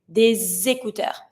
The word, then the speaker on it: des écouteurs: The S is always going to be pronounced like a Z sound. Des écouteurs. And I don't pronounce my final S. It's just to show that it's plural, but it's always mute.